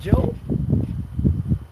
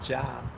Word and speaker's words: Job: You was arrogant, Job.